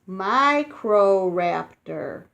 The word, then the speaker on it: Microraptor: is going say you say it like this Microraptor Microraptor Microraptor was the dinosaur that almost flew blonde feathers grew on microraptor's arms and legs and unlike other dinosaurs it could climb trees it's kind of crazy Microraptor couldn't fly but it would jump from a